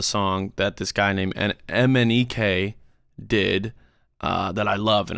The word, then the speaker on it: MNEK: that this guy named Mnek did that I love and I've been obsessed with. It literally spelled Mnek, and then you say it like it's spelled.